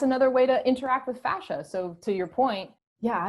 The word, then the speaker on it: fascia: Getting into, is it fascia? Am I saying that right? Fascia. Or I guess you could say fascia or fascia, however you want to pronounce it.